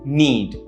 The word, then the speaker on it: knead: be used is to knead notice a pronunciation need so this means to